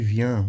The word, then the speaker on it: vient: Por exemplo, vient. Aqui, vient, você vai pronunciar an, por quê?